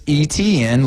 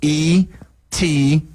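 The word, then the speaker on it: Etienne: And everybody says Travis ETN, like E Ten, ETN.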